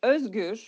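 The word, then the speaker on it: Özgür: key takeaways about me my name is pronounced as Ur it has two letters that doesn't exist in English alphabet it's hard to say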